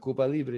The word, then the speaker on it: Cuba Libre: Let's listen to how you pronounce it? Cuba Libre. Yep, you did it good. Cuba Libre.